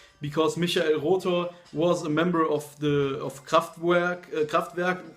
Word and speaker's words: Rother: Okay, Michael Rother, or as the Americans would say, Michael Rother, but in German it's Michael Rother, and the album is called Flammende Herzen.